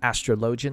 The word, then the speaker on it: Astrologian: And I will be pronouncing Astrologian like this because this is how Sir Imeric pronounces it.